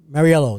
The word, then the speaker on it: Mauriello: So today's guest on Cop Talk is Inspector Steven Mauriello.